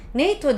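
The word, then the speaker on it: NATO: onun okunuşu artık değişmiştir mesela neito dediğimiz artık en eğti o Hani az önce anlattım ya tek tek tek tek tek söylemiyorum değil mi Ne o diye söylediğim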